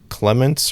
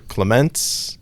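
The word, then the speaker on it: Clémence: Clemens or Clemens. No, it's there's the accent mark.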